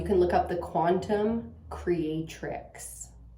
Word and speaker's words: Creatrix: look up the Quantum Creatrix, spelled with an X, tricks.